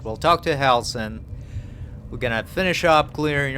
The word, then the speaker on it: Halsin: On the next episode, I'm gonna go talk to Halsin. That's how you say it. We'll talk to Halsin.